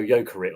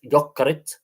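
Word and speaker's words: Jokerit: people people go yokerit or yurit but it's yerit um cuz k's in Finnish are weird uh they really are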